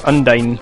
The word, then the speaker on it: Undine: I think it's Undine. Ooh. Like Dine. Like a diner.